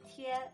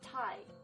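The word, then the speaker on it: tiē: in or pot sticker notice it's pronounced tia not thai even if it is spelled t-i-e remember pinging is not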